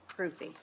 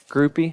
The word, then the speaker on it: Groupy: Groupie. Groupie?